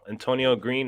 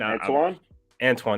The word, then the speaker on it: Antoine Green: It's not Antonio Green. Antoine. There we go.